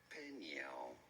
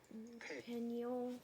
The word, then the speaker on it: Peniel: Peniel. Peniel, for I have seen God face to face, and my life is preserved. Verse 31. And as he passed over Peniel, the sun rose upon him, and he healed upon his thigh.